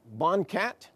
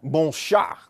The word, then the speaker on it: BONCAT: This is a procedure that we call BonCat. Ed, with his mastery of French, would object to that pronunciation. It should be bon chat, but we call it bon cat.